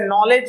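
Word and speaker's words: knowledge: उच्चारण शुरू करेगा नीडिंग जैसे नॉलेज है तो नो के से शुरू हो रहा है लेकिन के को साइलेंट रखते हैं क्योंकि के और एन ये दोनों ही कॉन्सोनेंट है इसलिए पहले वाले कॉन्सोनेंट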